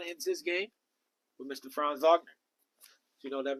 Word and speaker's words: Franz Wagner: Franz Wagner.